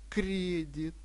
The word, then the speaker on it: кредит: понятие в тетрадку и правильно ставьте ударение Дебет и кредит чтобы вы Правильно говорили